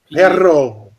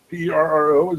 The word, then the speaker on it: perro: Perro.